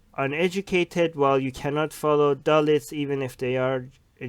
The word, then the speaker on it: Dalits: How do you pronounce the lower caste? Dalits.